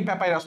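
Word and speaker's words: papyrus: 255 number আরো গুরুত্বপূর্ণ, সেটা হচ্ছে প্যাপিরাস। প্যাপিরাস বানানটা খুব ইজি, প্যাপি, প্যাপি মানে প্যা, তারপরে পাই, প্যাপাইরাস, অনেকে প্যাপাইরাস বলে, একই জিনিস, কারেক্ট অ্যান্সার বি।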